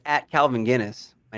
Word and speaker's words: Gines: tock it's at calvin guinness my name your name is yes his last name is guinness not spelled like the weird though yeah i had